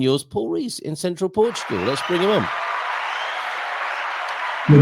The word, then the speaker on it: Portugal: That's how you say it, Portugal. It's not that difficult, is it? Especially when you've there's two accents on it.